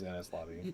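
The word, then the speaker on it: Enies Lobby: Like, Well, the way it's pronounced in the anime is Innis lobby.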